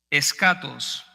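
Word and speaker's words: ἔσχατος: La palabra escatología viene de una palabra en griego que se pronuncia escatos y es una palabra que significa final, último o postrero.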